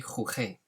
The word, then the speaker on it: jugué: followed by an E, it makes the G soft, like the word gente or gente. So it would be jugué, which doesn't sound like the verb jugar, because you want that G, that hard G sound.